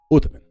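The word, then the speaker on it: عثمان: the guy's name is Osman right Osman the first but when you pronounce it in Arabic it sounds like utan utan it's u h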